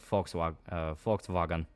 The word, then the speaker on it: Volkswagen: Yeah, V is pronounced more like an F. Volkswagen is pronounced more like Volkswagen.